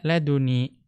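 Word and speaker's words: لدني: Ya, bi an yuqala laduni, dengan mengatakan laduni. Ya, bitakhfifi, ya, dengan takhfif, dengan tanpa tasydid.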